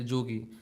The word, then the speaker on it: Jogi: So in Vrindavan, in Bengali also, Braj Bhasa in Bengali, when we say Y, it is pronounced as J. So they say Jogi.